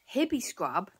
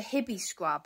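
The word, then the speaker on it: Hibiscrub: hippie scrub is only for bath bathing the hot spot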